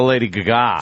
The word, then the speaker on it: Lady Gaga: The Lady Gaga. For the hell of it, right? We have to pronounce it properly right now.